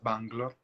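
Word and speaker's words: Bengaluru: y termina trabajando en bangalore o bangalore es como le conocemos por estos lados la pronunciación en hindi correcta es bang love como superintendente de los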